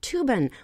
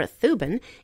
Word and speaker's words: Thuban: in Draco it's a star called tuban or thuin it's spelled t h u b a n and the way to